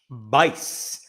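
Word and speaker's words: Buice: This guy is a Josh Bice. B U I C E. Josh Bice. That rhymes with lice.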